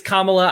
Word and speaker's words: Kamala: both just as bad my apologies for the mispronunciation I know some people do that to like be racist that I did that on it's it's kamla I I was yeah